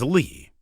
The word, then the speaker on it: Leigh: Also, quote, that's the definitive proof they wanted to use Gillian Leigh Anderson's actual name, as Leigh is pronounced exactly as Lee.